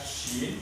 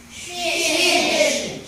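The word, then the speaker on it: ش: Kalau ini bacanya sin itu tipis, kalau yang ini ini penuh, mulut kita jadi penuh.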